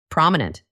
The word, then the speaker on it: prominent: It has 3 parts. Prominent. Repeat after me. Prominent.